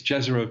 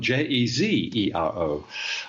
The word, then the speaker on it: Jezero: I think it's Jezero Crater is the way it's pronounced. Jezero. I beg your pardon, Jezero. No, you were right the first time.